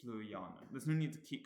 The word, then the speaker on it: sløjaanen: So it's not going to be nun, it's not going to be sluyanen. We're going to move left one. The syllable ya contains a double vowel, it's got that double A, so it's stressed. So therefore, it's sluyanen.